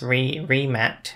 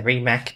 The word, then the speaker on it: Rimac: And then so it's pronounced Rimat, is it? Rimat. Because I always say Rimac, but it's the wrong.